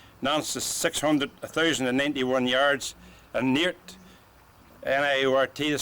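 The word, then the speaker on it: Niort: Well, where we're standing here today, Sertilly's 499 miles, so many yards, Rennes is 540, Nantes is 1,091 yards, and Neart, N-I-O-R-T to spell it, Neart's 673 miles.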